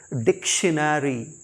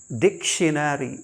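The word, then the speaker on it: dictionary: coupon नहीं coupon फिर डी आई सी टी आई ओ एन ए आर वाई बचपन से ही इसको हम गलत प्रोनाउंस करते हैं आईडी लर्नर्स एक्चुअली यह है डिक्शनरी डिक्शनरी डिक्शनरी फिर देखिए आर ई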